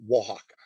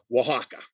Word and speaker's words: Oaxaca: there's the city of mexico it is called oaxaca that is as close as i can get to pronouncing the name of it correctly oaxaca so found a drink today called the wahawkin